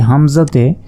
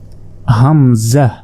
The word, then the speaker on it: হামজাহ: দেখুন এটা হচ্ছে হামজা এ হামজাতে কোন টান দেয়া যাবে না হামজাহ হামজাহ হামজাহ হামজাহ অনেকে হামজা বলে আসলে হামজাহ হামজাহ এরপর দেখুন ইয়া ইয়া